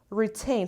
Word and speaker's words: retain: the last word is retain so what wants level no stress is retain retain retain the stress is on the second level retain means to keep